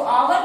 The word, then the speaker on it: hour: क्योंकि इसका सेंटेंस का क्या है, आवर का क्या प्रोनाउंसिएशन है, इसको आवर कहें या आर कहें, लेकिन अ से शुरू होता है इसलिए ए नहीं लगेगा, एन का प्रयोग होगा।